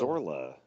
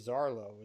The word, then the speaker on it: Zarlo: And did you notice that McCoy actually gets the captain's name wrong? He says Captain Oh, Zorla. Zorla. It's supposed to be Zarlo, isn't it?